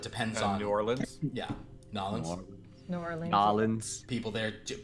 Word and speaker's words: New Orleans: But yeah, Nolans is how you say it.